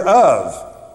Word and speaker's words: of: it's a ph and what's the word of it's not o f is it what does it sound it's it's spelt of but what does it sound like a v exactly a uv or an ov and this is how